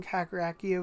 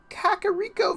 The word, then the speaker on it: Kakariko: I've been, I have been telling myself that I grew up pronouncing Kakarakio Village wrong for a long time.